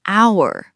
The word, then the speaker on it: hour: 1 hour. Wait, Oh, you noticed a trap. H starts with an H. But how do you pronounce it? Hour. Hour. The H is completely silent.